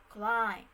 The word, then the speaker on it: climb: example in the word climb lamb lean which in the final sequence the sound or the mb letter the b sound disappeared in the pronunciation before the beginning of